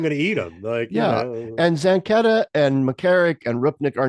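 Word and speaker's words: Zanchetta: I think his name is pronounced Zenketa or Zenketa.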